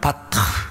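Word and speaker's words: בָּטַח: 우리가 하나님을 믿는다고 할 때 여러분 이 믿음은 히브리어 말로는 바타 이렇게 발음을 합니다.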